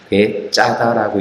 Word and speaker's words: 베드자다: 그것이 뭐냐면 베드자다라고 되어 있는데 정확한 발음은요, 악센트 발음 베짜다입니다. 베짜다라고 있는 것이 맞습니다.